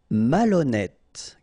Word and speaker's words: malhonnête: Malhonnête. Okay, remember H doesn't exist, so malhonnête. Don't insist on the final E. Malhonnête. And here you get E accent circonflexe, so you pronounce it like E.